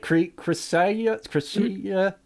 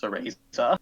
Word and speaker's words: Cereza: I think I pronounced that name like Chrysia. How do you pronounce that, Dom? Actually, if you played Bayonetta, you'll know it's pronounced Cereza. Ceresa.